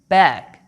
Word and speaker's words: ب: are quite the same the name is ba and the sound is right you can pronounce the letter b simply by pressing your lips now blow some air step three let the lips apart ba ba don't forget that you